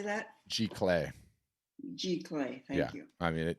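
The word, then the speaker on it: giclée: Or does your company have access to the Gicley printing or G-Clay, yeah. So we integrate. How do you say that? G-Clay.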